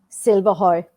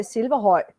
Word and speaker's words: Silverhøj: Silverhøj. Silverhøj. I can never get that. Silverhøj. Silverhøj? Silverhøj. Well, you know, I actually, if I would say it in Danish, it would be Silverhøj.